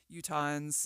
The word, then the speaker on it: Utahns: But I do think that when I watch Utahns, I've never said that word.